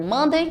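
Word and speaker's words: Monday: m d a y Então eu tenho mandei para a segunda-feira a terça-feira a pronúncia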